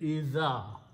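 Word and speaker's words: إذا: Alif dhal but another alif after that idha.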